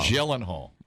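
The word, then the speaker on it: Gyllenhaal: Jake glan Glen Glen Hall what's how you pronounce gyllenhal gyllen Hall mhm with uh Conor McGregor is in there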